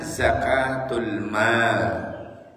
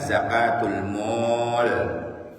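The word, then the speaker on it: zakatul maal: Yang kedua, selain zakat fitrah, ada namanya zakatul mal. A-nya double terus L. Niku panjang bacanya. Zakatul mal. Tapi kalau L-nya double, A-nya 1, itu bacaannya zakatul mall. Dibaca zakatul mall nanti.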